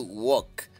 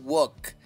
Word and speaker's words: walk: y luego tenemos to Walk caminar to Walk caminar sin pronunciar la l okay Y luego tenemos